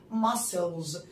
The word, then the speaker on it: muscle: العضلات دي اسمها muscles muscles. let's spell muscles. ما ام يو مس اس سي بس بيتنطق س ل يعني عضلة muscle muscle.